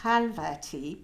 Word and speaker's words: Khalvati: is what it is and then my name khalvati pronounced properly for a change by me um I